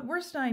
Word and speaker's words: Werstine: Editor Paul Werstine says that editions have a dual purpose